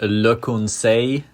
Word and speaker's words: Le Conseil: So the way you say Le Conseil, that's how it's supposed to be said in French.